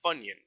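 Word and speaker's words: Phunion: It's like like pronounced like the onion, but the funion phu spelled like that. Pu n i o n.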